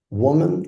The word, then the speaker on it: woman: Is this woman or woman? And let's listen. Woman. How to be correctly putting the emphasis at the beginning of the word.